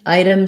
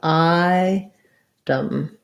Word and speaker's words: item: adam with a d item same thing just think about i dumb so almost no vowel there or if if there's any vowel it's going to be like a schwa enough item that's the